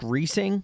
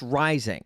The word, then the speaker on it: Reising: In fact, a good way to remember how to pronounce his last name is that his last name is a lot like his weight.